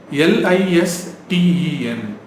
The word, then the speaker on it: listen: LISTEN அப்படின்னா என்னது? லிசன். Correct தான் இல்லை? இன்னும் கொஞ்சம் சாஃப்டாக சொல்லுங்க, லிசன். You pronounce it as listen. Can you listen to me? Right? Listen. Can you listen to me? Listen carefully. Right? Not listen. Listen. Listen carefully.